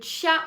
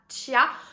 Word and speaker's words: chia: Huitième aliment, il s'agit des graines de chia ou de chia. Moi, personnellement, je prononce ça chia.